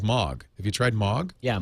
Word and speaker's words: MOG: And so Spotify is saying I love you know what my favorite though and I know how to pronounce it is Mog.